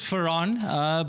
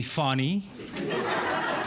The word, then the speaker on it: Farhan: My name is Farhan, but for some strange reason, Afrikaans people, please stop calling me Fani.